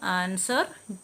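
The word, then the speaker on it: answer: ഇതിലെല്ലാം you silent ആണ് silent W വരുന്നത് ആൻസർ ടു ഹോൾ സൈലന്റ് ആണ് അടുത്തത് സൈലന്റ് എച്ച് വരുന്നത്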